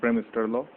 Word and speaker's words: Bremsstrahlung: It is pronunciation as Bremsstrahlor, and second is the Krennikov radiation.